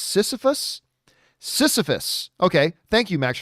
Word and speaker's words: Sisyphus: putting out now max cohen is saying is pronounced sisyphus sisyphus okay thank you max for that but